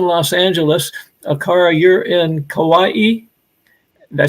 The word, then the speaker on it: Kauai: Akara, you're in Kauai.